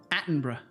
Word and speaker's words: Attenborough: Attenborough. That's how it's pronounced? Really? It's Attenborough? In the UK, borough is bruh everywhere.